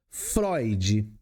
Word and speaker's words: Freud: Se escreve Freud, mas se lê Freud.